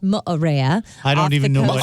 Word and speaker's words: Moorea: Pronounced Moorea.